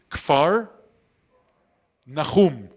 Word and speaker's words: Kfar Nahum: It's Kfar. Do you want to try and say it? Kfar Nahum. You need a ch, Nahum.